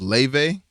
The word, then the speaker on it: Laufey: Her name is Leve. Okay. But it's spelled like Laufey or some shit.